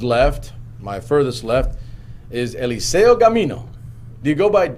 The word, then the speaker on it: Eliseo: he goes by elizio a lot of teachers growing up and like i said in a hispanic rural community would cause pronounce my name elisio right because they would not be able to pronounce eliseo right so it's it's important